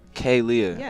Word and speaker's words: Khalia: paying the invoices but Kalia is in expensive at I'm sorry wait I said it right this time finally no you didn't damn k k Leah Kay Lea okay I'm so sorry